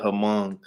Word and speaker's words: Hmong: I call it Hmong because it's spelled HMONG or something like that.